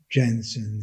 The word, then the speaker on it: Jensen: Often we say Jensen inequality or Jensen in probability theory in convex analysis, but correct spelling pronunciation is Jensen, because he was a Danish mathematician who published one of the first papers on convex function in 1906.